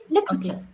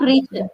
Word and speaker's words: literature: literature yeah literature yeah you don't have to stretch that Tee just literature literature literature okay not richer literature literature yes yes